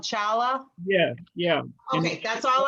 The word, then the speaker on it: challah: yeah yeah of the heart yeah it's actually pronounced holla we would pronounce they pronounce it hala it's spelled chala but it's print if it's